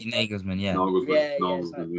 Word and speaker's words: Nagelsmann: is it Hagelsmann? Is that how you say his name? Nagelsmann, yeah.